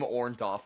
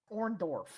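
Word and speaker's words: Orndorff: Paul orntoff brother sure Hogan uh Hogan Hogan consistently pronounces his name orntoff and I don't did it orndorf um so Roddy Piper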